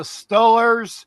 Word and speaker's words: Steelers: Baby, it's the Stillers. You need to know how to pronounce the name in Western Pennsylvania.